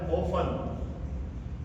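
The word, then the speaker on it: often: सोफन इसी तरह से एक हमारा होता है ओफन ये बहुत कॉमन वर्ड है सबको पता है इसके बारे में तो इसमें हम टी जो है हमारा वो साइलेंट रहता है ओन में इसी तरह से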